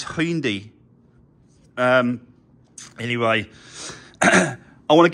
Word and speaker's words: Hyundai: the main dealer and it's not Hyundai it's Hindi I'm surprised no one